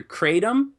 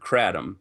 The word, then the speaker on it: kratom: many people may not have heard of, and I hope I'm pronouncing this right, is kratom. How is it pronounced correctly? You'll generally hear it either kratom or kratom.